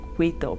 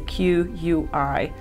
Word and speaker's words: Quito: aquito sorry that was i'm always saying kweeto because it's a q-u-i-t-o but um they pronounce quito so i have to keep in mind so quito this is